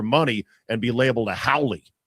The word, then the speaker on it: haole: Haole is spelled h a o l e and it is pronounced haole.